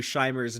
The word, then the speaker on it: Scheimer: Scheimer. Lou okay. Scheimer. Yeah. Yeah. I see that the Scheimer barrier a lot more. Yeah. I think you're the only person I've ever actually heard say Lou Scheimer's name out loud.